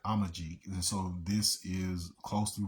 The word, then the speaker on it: Amazigh: So in Tripoli, Libya, you had the Amazigh, so Amazigh, and Amazigh basically that Z is pronounced more like a G, so it's more like Amajig.